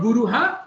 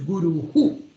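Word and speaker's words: गुरुः: So Guru, it is not Guruha, it is Guruhu.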